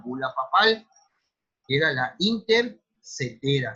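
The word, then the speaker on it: Inter caetera: Ese tratado se llamó Tratado de Tordesillas, pero nace de lo que era una bula papal, que era la intercetera, se escribe intercaetera, pero es intercetera, para que se pongan,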